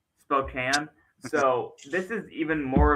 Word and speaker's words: Spokane: So, it phonetically Spokane, but I'm not going to say that it's officially Spokane because Louisville is not phonetically correct. Aens is not phonetically correct. Almost no city is phonetically correct. So, I think it's Spokane.